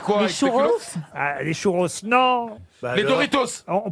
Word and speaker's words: Doritos: les chouros non les doritos on prononce pas le s chez nous on prononce pas le s mais eux ils le prononcent c'est on adore ça